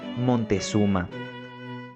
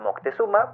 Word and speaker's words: Moctezuma: hombres empiezan a escuchar el mítico nombre montezuma nombre que españoles le dieron a Moctezuma porque no podían pronunciar bien Moctezuma Moctezuma un gran señor del